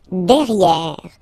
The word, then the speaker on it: derrière: Don't pronounce the final E.